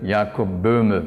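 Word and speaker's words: Jakob Böhme: falar sobre jacobina a cujo nome em alemão se pronuncia ea cubana quem era sapateiro nunca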